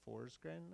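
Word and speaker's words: Forsgren: book recently came out doctor fors grin I believe she pronounces her name and some other folks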